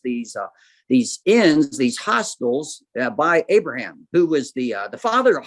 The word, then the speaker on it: Abraham: As you come in, you see it says Fazi Azar by Abraham, or Avraham, as Hebrews would pronounce it.